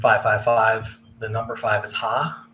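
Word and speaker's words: ห้า: The number five is ha. It's pronounced ha.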